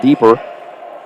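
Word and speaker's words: Diper: 611 junior marial deeper it's about d-i-p-e-r pronounced deeper is the tallest player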